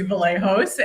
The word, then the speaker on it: Vlahos: My name is Vallejos and it was so good. You did a great job pronouncing that. And for like for people who want to know, it is Greek.